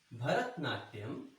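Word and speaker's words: Bharatanatyam: Once again, I'll spell it for you because it's long. Bharat. Bharat. Nat. Nat. Yam. Yam. Bharatnatyam.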